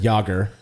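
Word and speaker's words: Jágr: right yes yeah uh rhymes with logger oh yeah jomir yogger yeah pickle you'll see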